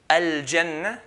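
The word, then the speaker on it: الجنة: So jim, al-jannah, like the J in English.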